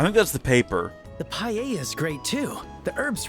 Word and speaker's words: paella: And mine is the seafood paella. Paella. So, they don't even pronounce the L.